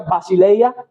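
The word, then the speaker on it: βασιλεία: Respecto al concepto básico del término el reino de Dios en griego reino se pronuncia basile, Jesús pronunció al principio de de su ministerio que el reino de los cielos se había acercado.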